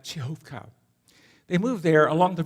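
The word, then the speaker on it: Przechówko: persecution they moved to chovka notice the spelling on the map p r z c h o w KO that's the indigenous that's local name pronounced something like chovka they moved there along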